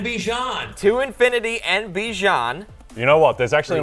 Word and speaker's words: Bijan: all right and then FF uh ball culture Bijan Renaissance tour yep uh yeah you said that